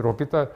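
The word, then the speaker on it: l'Hôpital: 로피 딸의 정의라고 들어보셨어요 불란서 사람이라서 저음은 발음 안 하죠 중간에 나오는 저항은 플란트 사람들은 자음 발음을 안 해요 그래서 영어로는 핫스피털 병원인데 불후에서는 정관사 더에 해당되는 병원 정리입니다 병원 정리 근데 로피탈 핫스피 둘이 사람 이름이기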